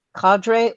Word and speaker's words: cadre: Or if it's something like, okay, CADRE, we know it can be, let me see if I get this right, cadre or cadre. Both are accepted.